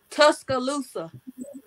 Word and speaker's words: Tuscaloosa: Tuscaloosa.